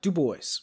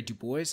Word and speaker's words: Du Bois: as of the side his name was in is pronounced like dubois based upon his own certain instructions but his name also has roots in french so if you thought it was dubois no one can blame you much his mother was descended